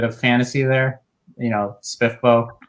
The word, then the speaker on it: SPFBO: fantasy there you know spiffbow or spfbo is actually how i originally pronounced it and um i've i've gone over to spiff bow just because as justin said that's that's the way we're apparently supposed to pay it and i i'm not